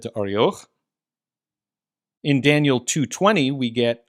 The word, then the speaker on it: Arioch: So he declared, or he answered and said to, however you want to pronounce it in English, arioch is how we'd say it with Masoretic pronunciation there. So he answered and said to arioch.